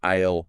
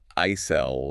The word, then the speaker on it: aisle: Ah, yes, the silent S. Right, it's pronounced like aisle, as in I'll go shopping. Not aisle or anything like that.